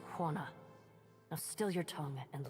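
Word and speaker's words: Huana: No, it is pronounced Hana.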